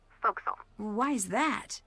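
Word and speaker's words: forecastle: ship but it's pronounced foxel why is that try pronouncing it like an english sailor with no formal education faux castle foxel overtime it little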